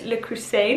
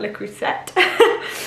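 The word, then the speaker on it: Le Creuset: brands in the crusade I pronounce the T the other day and someone commented saying I love how you're pronouncing the T so I think it's licorice a not lick reset pink salt and pepper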